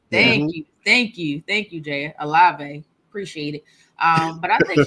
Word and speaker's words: Olave: Olave, yeah. Olave. Thank you, Jay. Olave.